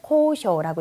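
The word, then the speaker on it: 交渉: 자, 이거는 코쇼라고 읽죠. 코쇼, 교섭.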